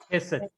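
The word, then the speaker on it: חסד: Chesed. Yes, sir. Because that chet is a strong guttural, so the sound should come out of the throat.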